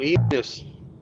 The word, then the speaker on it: Enos: That'll be coming up on Enos. Rhymes of Peanuts. Yep, here it is. We have Enos, Rhymes with Peanuts.